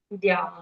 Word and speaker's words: द्याः: द्याः यस्य द्याः द्विरद वक्त्राद्याः। द्या के बाद जो द्याः विसर्ग है उसका उच्चारण हमको हा के जैसे करना होगा।